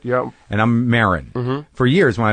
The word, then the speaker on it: Maron: And I'm Maron.